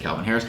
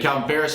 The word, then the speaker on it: Calvin Ferris: Said it right. I always want to say Calvin Harris. They had Calvin Ferris, who quit to play baseball.